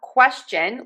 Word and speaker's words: question: But for question, we actually say a ch sound, not the sh. So we're going to start with quest. And for quest, you want to say that k w. Stress it. Question. Question.